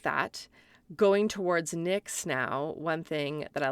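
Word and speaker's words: Knix: like that going towards NYX now one thing that I love about NYX and Nyx is spelled KN ni iix I'll put all these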